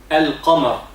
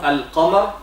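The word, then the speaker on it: القمر: In the word moon, al-qamar, we say al-qamar, so the lam of the word moon is pronounced.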